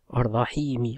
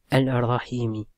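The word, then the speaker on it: الرحيم: y a le dessus le l on le prononce pas on dit pas on dit pas on dit pardon on dit arrahimi on dit pas alrahimi d'accord le prolongement d'accord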